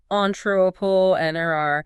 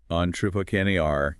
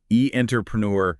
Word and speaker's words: entrepreneur: So it all comes together as on entropole n r. The stress is way at the end. on Tupac R. Yeah, that final syllable gets all the weight. Not e entpreneur at all.